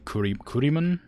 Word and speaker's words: Kurimun: And I frequently use the name Kurimun. K-U-R-I-M-U-N when I play games. If it's like a... I don't know why I pronounce it like that.